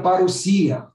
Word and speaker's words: parousia: Então, se escreve parousia, mas se pronuncia parousia.